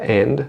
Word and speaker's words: and: good você percebe que o d da palavra and não será pronunciado e a palavra soio